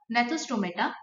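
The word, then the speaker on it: Gnathostomata: एक पहला होता है अग्नाथा और दूसरा होता है ग्नैथोस्टोमेटा, ठीक है, पहला होता है नाथा और दूसरा नेथोस्टोमेटा, इसमें जी साइलेंट है।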